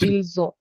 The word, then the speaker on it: ils ont: So we are pronouncing it ils ont. Yes. So this thing here is pronounced as Z.